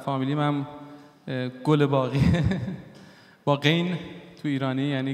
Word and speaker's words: گلباغی: یعنی گل باق، و توی هلندی خیلی بد تلفظ میشه، توی حالا فارسیش یه مدار چون هلندی ها گه ندارن و به جای گه خه میگن.